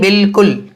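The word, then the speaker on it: بالکل: बल्कि यह बिल्कुल है यह असल में था आलू कुल्लू मगर इसमें घुम शुरू में बॉल लेकर आ जाएंगे तो अमित साइलेंट हो जाएगा यानी इसको पढेंगे बिल्कुल याद भी लगते हैं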